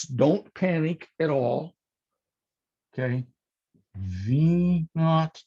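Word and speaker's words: v₀: zero it's also pronounced v naught n a u g h t or it's v sub zero okay it's pronounced v naught because we got a lot of our original mathematics from the british and they instead of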